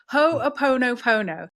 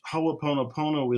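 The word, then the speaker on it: Hoʻoponopono: I'm going to attempt to pronounce this properly. Ho'oponopono.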